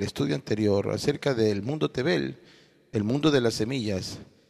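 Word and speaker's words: תֵּבֵל: se pronuncia heret y el mundo en su original se pronuncia tebel por tanto salmo 241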